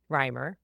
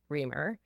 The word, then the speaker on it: Reimer: For example, my last name is pronounced Reimer. Most people look at it and think Reamer.